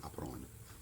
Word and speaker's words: apprendre: To learn, apprendre. It's the same verb in international French, but we don't pronounce kind of the ending. I just extend the sound, apprendre. The verb to work, travailler.